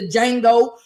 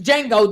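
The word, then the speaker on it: Django: out there being the D Jango uh uh uh uhhuh listen so everything was going on listen it was D Jango the D is silent uhhuh so they were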